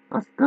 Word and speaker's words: 明日香: シータの意味で、アスカって明るいのかありって言うわけ。